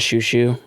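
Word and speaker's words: Xiu Xiu: I am going to say, are you familiar with the band Shoo Shoo at all? Oh God, the name sounds so familiar. It's spelled Xiu.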